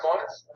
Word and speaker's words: Moiz: It's pronounced Moiz. Moiz? Okay. Kind of like noise, but with an M.